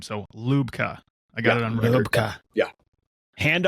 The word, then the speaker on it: Lubka: name correct is it lubka is it lubka what's the what's the proper either either or lupka you got it Luke um you got